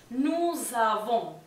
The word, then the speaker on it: nous avons: El pronombre nous tiene una S final y se va a pronunciar como una Z porque está en contacto con la A que viene después.